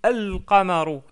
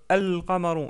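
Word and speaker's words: القمر: Par contre, on prononce bien le lem, on dit al-qamaru, al-qamaru, et non pas al-qamaru. Donc al-qamaru.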